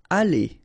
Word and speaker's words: aller: Aller. Okay? ER at the end, when you combine them, you pronounce it E. Aller.